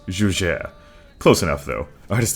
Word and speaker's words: Juger: It rhymes with Luger. Breaking into the number 10 spot are the Juger Pistols. Actually, I lied. It's pronounced Juger.